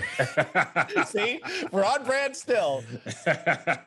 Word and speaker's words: Chamillionaire: Millionaire. Did I say it wrong? He said Chamillionaire. It's Chamillionaire. Chamillionaire.